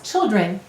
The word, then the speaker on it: children: before two consonants and you'll notice the vowel sounded changed to an it when we added the suffix children it's really common for